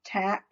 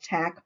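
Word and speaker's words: Taq: it says tech uh i think that's pronounced tac t t t8q tac polymer race is an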